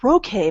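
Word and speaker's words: roquet: it's Ro I think it's pronounced roket r o qu e ROK or Rogue he's like oh no actually it's ROK it's a slightly different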